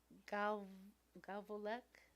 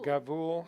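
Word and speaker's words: גבול: And then gavolek? Gavolek? Gabul. Gabul. Sorry, Gavul. Gavul cha.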